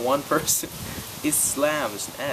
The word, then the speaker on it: Islam: or islam they'd say islam muslims i'm like just it's pronounced islam there's no letter z in there my mom's like we'll